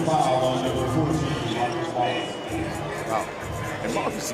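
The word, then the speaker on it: Wallis: So a flagrant foul called against Marcus Wallace as Benji Wallace hits the free throw. They're not related at all. Their names are not spelled the same, although it sounds alike.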